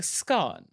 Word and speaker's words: scone: So I feel very comfortable saying scone. Now, in the UK, you have many people saying scone. And you have many people insisting that that is correct. Now, there are a lot of people that actually do say it this way, and that is true. Queen Elizabeth II, she did say scone.